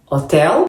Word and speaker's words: hotel: nos temos a palavra hotel preenchimento do que acontece em inglês a letra H em português é uma letra muda é como se não estivesse nas palavras porque antes não se pronuncia que por exemplo o